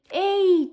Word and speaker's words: ehi: there are other ways such as A, like written literally E-I, hey in an English way, because in Italian we use lots of English words. They're both pronounced like A. Ehi, ciao, come va?